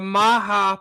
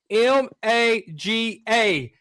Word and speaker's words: maga: That is the maha Puerto Rican flower. It's spelled M A G A. A lot of people call that MAGA, but he did the Puerto Rican flower called the Maha.